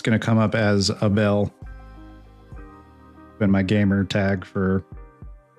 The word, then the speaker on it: Abel: It's going to come up as a bell. Been my gamer tag for over 10 years at this point cuz it's like the phonetic pronunciation of my name in Spanish.